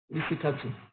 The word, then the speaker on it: Risikatu: But culture and custom, as usual, has changed the way the name is pronounced. I was born by Fulani Yoruba parents, and that actually affected the way it was pronounced, Risikatu.